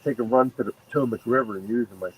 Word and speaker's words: Potomac: I said, well, according to the fishing shows, it's Potomac.